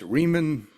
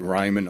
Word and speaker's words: Rieman: It's Riemann, which rhymes with demon, as I always say, and my mother used to say. But yeah, Riemann, even though it's Rieman. So, of course, I get Ryman all the time.